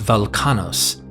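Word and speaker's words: Velchanos: As Welchanos, pronounced Velkanos, is potentially a dialectical version of the Sanskrit Balakana.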